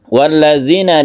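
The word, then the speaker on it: وَالَّذِينَ: dengan tajwid yang benar walladzina di sini ada dzal yang ada titiknya bedakan dengan dalil yang biasa ini harus kita latih kemudian sukun ya ini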